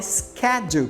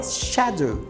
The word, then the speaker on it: schedule: aqui na pronúncia tá no inglês americano se fala Schedule porém no inglês britânico se fala Shadow Shadow todas as duas pronúncias